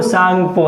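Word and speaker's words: Tsangpo: यहाँ लिख लीजिए ITSZ, इंडो सांगपो, यानी सांगपो में टी जो होता है साइलेंट होता है, ठीक है।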